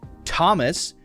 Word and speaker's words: Thomas: Now, as I said, with words like Thomas, yeah, it should be the T sound, but that's not nearly as common as the voiced and the unvoiced TH sound.